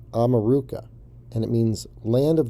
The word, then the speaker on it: America: america or south america america is actually pronounced ameruca and it means land